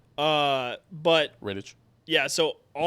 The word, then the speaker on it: Rittich: But Rittich. Yeah, so no, it's Riddick. Is it a K? Is it not a CH? It's Riddick. No, it's a CH. But it's pronounced Riddick?